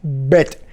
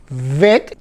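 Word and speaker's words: ב: Por ejemplo, tenemos la vet, que con el dagesh va a sonar como bet. Su nombre, vet, sin dagesh, con dagesh, su nombre, bet.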